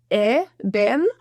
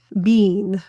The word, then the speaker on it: been: And the word bin or bean can be pronounced ben, or bean. Both are totally used in any typical American English speech, and both are accepted.